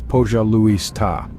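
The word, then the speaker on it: пожалуйста: The Russian word for please is "Pojaluista," pronounced as "Pojaluista."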